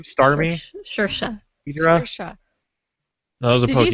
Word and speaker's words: Saoirse: it's translated from an Irish Scottish, which phonetically, when you're translating other languages, the way that they pronounce them, when Right. they're written out in the English, English characters, are not necessarily how regular, traditional English pronunciation Saoirse. is. Right. They have a Saoirse. totally different, they look at the same